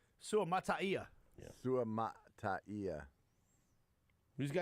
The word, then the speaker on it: Suamataia: Go ahead and give us the perfect pronunciation of the new left tackle. Oh, man, I like this one. Go ahead. Kingsley Suamataia.